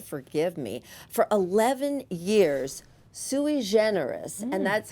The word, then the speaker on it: sui generis: For 11 years, sui generis, and that's how they pronounce it, so I know that's correct.